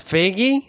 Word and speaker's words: Feige: pronounce his last name I'm pretty sure we say fagy now it's fagy Okay Kevin fagy wants